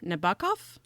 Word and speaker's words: Nabokov: say his last name nabakov nabakov yes i believe that russian names emphasize the second syllable oh okay i think